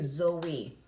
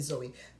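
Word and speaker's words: Zoï: Li prononce Zoé. Non bébé en relais Zoé. Bébé pas non pas prononcer français pour moun dire comme ça c'est Zo et pas Zo.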